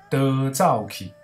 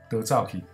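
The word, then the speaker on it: 逃走去: 逃走去怎么念？得照起，得照起。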